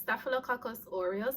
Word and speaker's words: Staphylococcus aureus: this guy this word guys okay so it's pronounced staphylococcus aureus or we call it stuff it's basically an